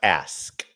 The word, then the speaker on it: ask: It's pronounced ask. Say it with me. Ask.